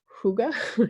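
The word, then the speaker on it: hygge: to mispronounce it, but I think it's called Huga. You guys probably, it looks like Heige, but that's not correct.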